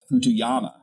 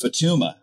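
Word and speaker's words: Futuyma: The author's name is Futuyama, and it's Futuma. That you took from an undergraduate textbook, you took from Futuma. I actually cited Futuyama, Futuma, and I... He adds an A and he mispronounces it.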